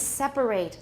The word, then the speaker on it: separate: the next thing is separate let's go over that again the verb is separate three syllables everyone separate separate separate the adjective is separate separate separate good all right to separate